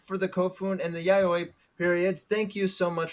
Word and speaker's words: Yayoi: Yawa I'm probably Yaoi pronouncing it Yawa wrong this whole time, honestly. Um. Oh, which one? Yayoi? Either of them. Yawa No, Yawa? Yayoi is right.